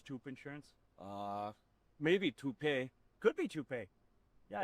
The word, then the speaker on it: Toop: Maybe Toupee. Could be Toupee. Yeah, I don't know. Or Taupe Insurance, maybe? I don't think so. Say it right. That's T-O-O-P. That's Taupe. Oh, it's Taupe.